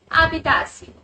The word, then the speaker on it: habitación: Now, this is a H letter word, so H will be silent and the word will be pronounced as habitación, which means bedroom.